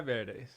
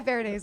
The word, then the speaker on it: Verdes: this is Ty ver it's verz that's how you say it right Ty veray veray see I said it like an idiot uh Ty veres is here I am